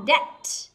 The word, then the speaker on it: debt: Tiếp theo đó là debt, debt. Âm B ở đây, B ở đây cũng bị câm.